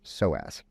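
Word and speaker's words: psoas: what it is it's it's spelled PS OAS so as there's a p in there tricky but this is a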